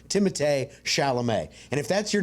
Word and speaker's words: Timothée Chalamet: But I'm going to call him the way he said his name is correctly pronounced, which is Timothée Chalamet.